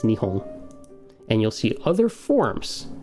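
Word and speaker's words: 日本: in the g show the pronunciation guide they give you is nihon and you'll see other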